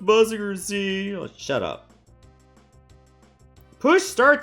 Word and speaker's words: Mazinger Z: This is mazinger zed. So it's pronounced muzzinger z.